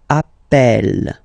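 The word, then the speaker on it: appelle: plural form Double L so when you get this a vowel and then you get a double consonant and well they are the same then it does change the pronunciation of of uh you tend to pronounce it like e e really open that's the reason why you pronounce it Appel Appel okay Appel Appel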